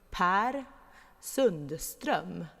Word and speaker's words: Per Sundström: I'm going to pronounce it in Swedish. His name is actually, here we go, Per Sundström.